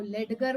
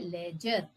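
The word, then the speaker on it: ledger: अगर आप इसको लेडर बोल देंगे तो यह बिल्कुल भी सही नहीं है। इसको कहते हैं लेजर। ले ले जर लेजर। ये इसको कहा जाता है। कैसे यह स्पेलिंग इससे मैच करती है वो जवाब मेरे पास नहीं है। लेकिन प्लीज यह लेडर नहीं है। यह लेडजर भी नहीं है।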